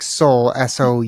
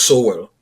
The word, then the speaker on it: Sowell: everyone I hear say his name, it sounds like soul, Soul, Yeah, rather than the soul. yeah. Is that pretty normal? That I don't know. I actually find it interesting that they say everyone pronounces soul instead of Sowell. Mm-hmm. So for people who come across his work for the very first time, they're gonna say Thomas Sowell.